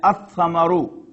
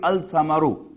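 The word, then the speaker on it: الثمر: Similarly, fruit, Samar, and Ath-Samaru. It will not be Al-Samaru.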